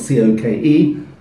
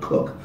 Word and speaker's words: Coke: So in the proclamations case, Sir Edward Cook, spelled C-O-K-E, we always pronounce words in English different from how they sound, not Coke, but Cook.